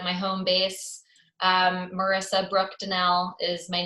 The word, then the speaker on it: Donnell: to call it my home base Marisa Brooke Danelle is my name on Facebook it's spelled Donald if I know I hate that